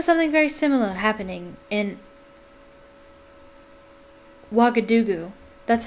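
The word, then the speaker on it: Ouagadougou: stuffed i remember something very similar happening in wakadugu that's how you pronounce that wagadugu tedlockhart a series of attacks the full stories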